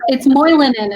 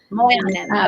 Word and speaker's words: Moilanen: Yeah, it's Moilanen is how you pronounce it. Moilanen.